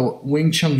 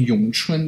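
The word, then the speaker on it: 詠春: He's even wearing the Wing Chun Yong Chun. That's how you say it in Mandarin.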